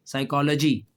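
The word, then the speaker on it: psychology: तो पीएस जो है ना इसमें पी साइलेंट है। तो लफज़ क्या है? फिर ये साइकोलॉजी।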